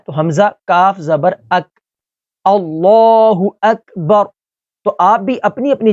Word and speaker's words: اللہ اکبر: غلطی کر جاتے ہیں۔ پہلے میں اس کو درست تلفظ کے ساتھ پڑھتا ہوں اور پھر میں آپ کو اس کی غلطی کے بارے میں بتاتا ہوں۔ اللہ اکبر، تو یہ اس کا درست تلفظ ہے۔ اس میں جو ہماری اکثریت غلطی کرتی ہے وہ پڑھتی ہے اللہ اکبر، اللہ اکبر۔ تو یہاں پر حمزہ کی جگہ واو کو پڑھ لیتے ہیں۔ اللہ وک، یہاں